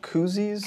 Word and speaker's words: koozie: Koozies?